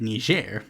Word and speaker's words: Niger: in Africa by the name of Niger and yes that is how you pronounce it and currently they're in